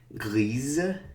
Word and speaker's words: grise: Gris, grise. Here we pronounce the Z, kind of when the E is after.